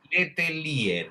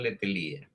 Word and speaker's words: Letelier: How do you pronounce his last name? Letelier? Letelier? Letelier, Letelier, Orlando Letelier.